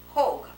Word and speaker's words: Hoag: Moses Vail and Jonathan Hoag, H-O-A-G, and the people around here think the right way to pronounce it is Hoyt. Well, I can't quite go for that myself.